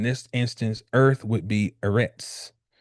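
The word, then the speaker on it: ארץ: instance, earth would be Eretz. And it is spelled boom. That's a Aleph, a Resh, and I think this letter is called a Zadi.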